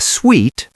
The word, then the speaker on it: suite: A suite, pronounced like sweet, is a larger room, usually with a separate living area.